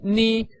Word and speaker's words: 你: So n pronounced n, and I pronounced e, ni. With the third tone that goes from up to down and then up again, it is ni.